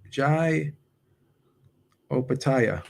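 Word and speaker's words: Jai Opetaia: pronounce his name wrong um how do you pronounce this guy's name jai jai opataya yeah jaio pattaya i he just upset mari's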